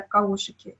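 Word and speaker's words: Kaushiki: Я написала каошики через О, но на самом деле каошики не произносятся через О. Это что-то среднее между О и Ю. И на самом деле правильное произношение это каушики, то есть и не У, и не О.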